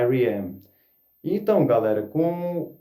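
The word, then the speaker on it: R.E.M.: A, aqui no Brasil a gente até costuma às vezer chamar Ram, né? Mas o nome, a pronúncia correta da banda é IRM.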